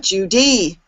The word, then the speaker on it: Judy: apart and I say Judy so there's two syllables in my name but my name is not Judy and it's not Judy it's Judy English is a stress-based language there